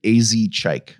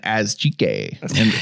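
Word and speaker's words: Asake: Shout out to I looked up how to pronounce it. AZ Chike. Okay. The whole year I was saying as Chique in my head, or maybe as Cheek.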